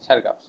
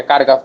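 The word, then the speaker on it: Chargaff: ওই জন্য ওরকম উচ্চারণ হয় সারগাফ। অনেকে আবার চারগাফ বলে, হ্যাঁ অনেকে কারগাফ বলে, আসলে ওটা উচ্চারণ ভুল, ওটা সারগাফ হবে।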